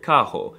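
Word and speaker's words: carro: spring break Hog Wild the r is very often pronounced as an H like in the word Kaho I grew up with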